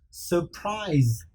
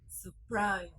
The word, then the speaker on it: surprise: c อ่านเป็น s i r คือเสียงเป็นแล้วก็ u s พยางค์ที่สองแล้วก็เป็นอ่านว่าเหมือนกันแล้วก็อ่านว่า circus circus โอเค circus jokes jokes very good vacations vacations very good vacations surprise surprise ต้องระวังคำนี้คือถ้า s ระหว่างสระและ s ไม่ได้อ่านเป็น s อ่านเป็นตัว z